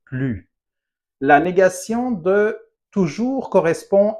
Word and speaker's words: plus: Attention, on ne prononce pas le S de plus.